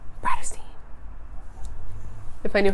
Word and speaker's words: Bratterstein: My channel name is pronounced Bratterstein.